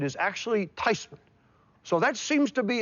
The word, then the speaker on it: Theismann: I said Graham they want to change the pronunciation of our last name from thasan to thyman how do you feel about it she says well you know the correct pronunciation is actually tyman so that seems to be a bit closer